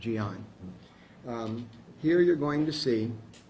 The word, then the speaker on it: Jean: And it's pronounced, it's spelled in our Jean, J-E-A-N, but it's Gian is how you pronounce the name when you're recording. It's Gian.